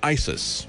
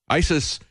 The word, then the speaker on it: ISIS: talk to Wayne about Isis you know it rhymes with crisis we got trouble right